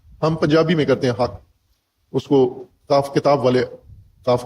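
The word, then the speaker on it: الحاقة: اور ایک ہے۔ حقاقہ، قاف کو قاف میں مدغم کر کے شد لگا کے حق پڑھتے ہیں، حقا، حقا، حقن، اور قاری بھی اس کو تلفظ طالب علموں کو یہی کراتے ہیں کہ اس کو اس طرح تشدید کے ساتھ پڑھو کہ 2 قاف مدغم حالت میں ادا ہوں، حقا۔ ہم پنجابی میں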